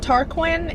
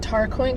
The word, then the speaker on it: Tarquin: Tarquin is how I pronounce his name, and everything's pretty tense.